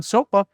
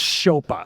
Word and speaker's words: Szopa: And Szopa.